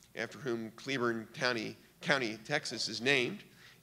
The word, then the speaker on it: Cleburne: patrick claiborne after whom cleburne county county texas is named i guess it's cleburne county but it's named after general patrick claver and spelled the same that's how he pronounced his name claiborne probably the best division